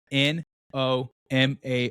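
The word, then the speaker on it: Nomar: Uh N O M A R.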